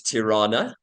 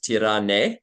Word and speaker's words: Tirana: The capital is Tirana, Tirana, although some people pronounce it Tirane, and I've seen that spelling as well.